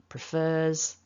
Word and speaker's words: prefers: with a z so we write it as an s but we pronounce it as a zed prefers and it's because of